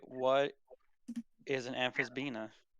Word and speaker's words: Amphisbaena: Amph Amphisbenia? Oh, the How do you Amphisbaena? Yeah, that. how do you spell that?